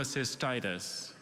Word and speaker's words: cholecystitis: thank you hi schrada hi dr bailey chola cholecystitis cholecystitis can i please have the definition inflammation